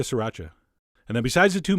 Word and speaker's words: sriracha: the same amount of sriracha which is how I've been told to pronounce it three distinct syllables although you know what that sounds kind of weird I'm going back to sriracha and then besides the